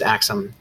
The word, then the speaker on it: Aksum: a brief thing about pronunciation and writing it's pronounced Aksum and you can write it either with an